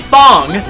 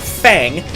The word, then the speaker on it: Fang: Fong, yeah, that's how you actually say his name, even though when you look at it you would immediately think Fang, is a poison-wielding 7'3"